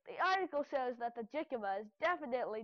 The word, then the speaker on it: jicama: First, let's see how you pronounce its name. Click on the link to hear it. Jicama.